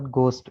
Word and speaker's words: ghost: इसके बाद गोस्ट, GHOST, H silent है, GOST, गोस्ट।